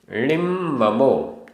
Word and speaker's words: णिम्ममो: जो देहे देहे निरवेक्षो आधा क ख निरवेक्षो निरवेक्षो णिद्दन्दो आधा द पूरा द णिद्दन्दो णिद्दन्दो णिम्ममो आधा म पूरा म णिम्ममो निरारंभो निरारंभो आद सहावे